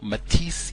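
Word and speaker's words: métis: term we've been hearing, metis, M-E-T-I-S, E with an apostrophe over it, metis. I think that's how you say it in French.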